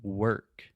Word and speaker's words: work: which is interesting because we write work with the w-o-r-k and most people would imagine that we would say something like work like more or or with an or sound but we actually we don't do that we say ER like her mother right so we say